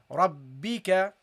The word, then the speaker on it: ربك: And then you got here the ra, which is with a fatha. You pronounce it heavily, ra, ra, and you attach to this ba. Okay, you attach the ra to the ba. You say rab, rab, rab, and then you pronounce the ba with the kasra, rabbi, rabbi, and the kaf with a fatha, rabbika.